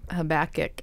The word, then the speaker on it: Habakkuk: It kind of goes back to the Habakkuk.